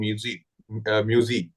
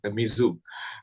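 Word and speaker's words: Muizzu: So the new elected president, President Muzi, rather pronounced as Mizu.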